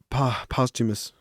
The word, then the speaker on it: posthumous: albums pop smokes but a pop uh pops posthumous how do you say it posthumous yeah albums